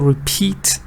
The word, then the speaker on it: repeat: For example, repeat. Repeat is two-syllable. It's got two syllables. The stress is on the second part.